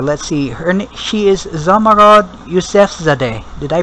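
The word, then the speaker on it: Zomorod Yousefzadeh: the lead character let's see her she Is zamarod yusf Zade did I pronounce her name correctly that's right okay but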